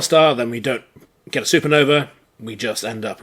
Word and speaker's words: supernovae: going to go through these last bits about supernovae supernovae I should say and if you have an AE and the end of a latin word it's pronounced I so supernovae and black holes we already should know roughly